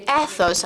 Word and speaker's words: ethos: It is a tool that is called ethos or ethos as we say it in English. However, it is a Greek word. So I pronounce it the Greek way.